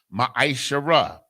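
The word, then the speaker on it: מעשר: through 10 means 10th in the hebrew and is pronounced ma shara 10 of every penny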